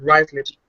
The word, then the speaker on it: Ruislip: Spelled Ruislip, but you pronounce it Ruislip in West London.